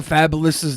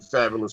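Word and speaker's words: Fabolous: fabulous fabulous that's fabulous which is actually how the rapper fabulous name is pronounced it's interesting I don't even know who that is he performed at WrestleMania 20 or 19.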